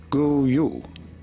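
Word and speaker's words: god jul: different languages in norway in norwegian this is normally pronounced as go you go you is how they say it in norwegian in swedish however this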